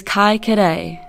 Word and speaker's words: Kaikorai: Kaikorai is a name commonly used in Dunedin today, but the original spelling and pronunciation of the name is Kaikorai.